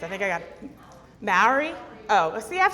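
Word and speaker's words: Māori: Maori? Oh, see, I've said it that way, and then people have told me differently. They said that you pronounce it M-A-H-A-W-R-E-E.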